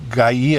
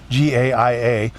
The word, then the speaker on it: Gaia: I used the Gaia app, I think it's pronounced, Gaia.